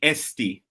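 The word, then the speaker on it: Eesti: Estonia oh so in Estonian language it's actually SD yeah so it's not Estonia it's SD and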